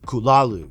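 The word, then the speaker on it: Cthulhu: gods and ancient beings the name cthulu itself Lovecraft noted is meant to sound utterly inhuman with the closest pronunciation being kulalu these entities unlike traditional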